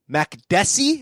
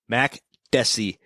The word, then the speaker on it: Makdessi: All right, Francisco Trinaldo against John Makdessi. Is that right? You did say it right. Boom. Makdessi.